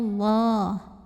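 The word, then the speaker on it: الله: Wallah, lam pada lafaz Allah dibunyikan secara tafkhim karena huruf sebelumnya yang waw ini barisnya fathah. Maka cara bacanya ditebalkan, pangkal lidah kita angkat, bunyinya Allah. Wallah.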